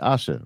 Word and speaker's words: Asha: Asha, right? Yeah. Yeah, you got it. It's spelled and pronounced just like Tasha. There's just no T.